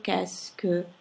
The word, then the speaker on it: qu'est-ce que: così lunga rimane soltanto U e U che si pronuncia K, qu'est-ce, la S che sentite data dalla C seguita dalla E, che è un suono dolce, quindi diventa una S. Q e U si pronuncia K, per cui in realtà quello che pronunciate è soltanto qu'est-ce que, di quelle 1, 2, 3, 4 parole.